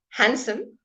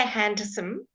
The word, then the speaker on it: handsome: you Alex good handkerchief handsome no D don't say handsome it's handsome no D sandwich I had a